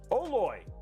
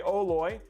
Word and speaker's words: OLOy: great mid-level board 184.99 right now on newegg oh loy and that's how you pronounce it by the way oloy i use this ram a little bit uh